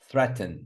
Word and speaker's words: threaten: Order on the first syllable. Stress. Order. Promise. Promise. You see? Promise. And then which one? Threaten.